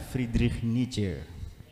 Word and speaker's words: Friedrich Nietzsche: Itu orang Jerman, cara bacanya Friedrich Nietzsche.